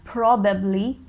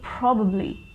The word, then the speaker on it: probably: next is probably probably a lot of people pronounce it as probably probably but that's a wrong pronunciation probably that bubbly sound should come at the end so probably probably is the correct pronunciation in a sentence i